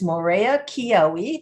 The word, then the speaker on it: Maurea Kyioi: with the business office manager, and that is Maurea Kyioi.